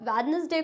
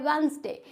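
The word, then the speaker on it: Wednesday: silent कुछ लोग अब वेडनेसडे को क्या पढ़ते हैं वेडनेसडे बट ये होता क्या है वेनसडे इसमें डी होता है साइलेंट फ्रेंड्स सैंडविच होता है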